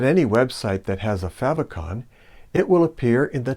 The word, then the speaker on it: favicon: color on light backgrounds favicons we'll end our journey with the humble little favicon fab rhymes with have short for favorite icon these tiny nuggets of